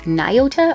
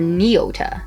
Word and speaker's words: Nyota: naoda ahura or uhura do you say niota or nyota depends on what you watch whether it's the new series of movies or the original series of shows i've heard it pronounced